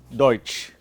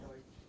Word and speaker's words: Deutsch: Deutsch. Da haben wir noch eine Kombination. What is the sound of this? Oi. Deutsch. Deutschland ist in Europa.